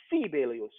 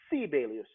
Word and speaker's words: Sibelius: preface this by saying they pronounce his name sibelius there because americans think i'm crazy i don't know how to pronounce that name in finnish every first syllable of a word is is emphasized so if i say which means good morning how are you so you say sibelius so sibelus is one